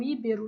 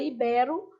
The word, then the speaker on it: ibero: Então, os arquétipos de ibero, e a gente adora falar um íbero, né? Mas é ibero, são mais pudicos, pudico quer dizer inocente, do que se pensa. Então, ibero se pronuncia inclusive de forma aberta, pudico e arquétipo.